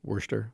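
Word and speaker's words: Worcester: other night my kids are learning how to pronounce Worster sauce mhm yeah right Worster sure um but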